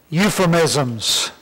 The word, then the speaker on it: euphemisms: I know it starts with an E, but you don't say it, okay? So there's your U, right? Euphemisms. That's how you say it, right?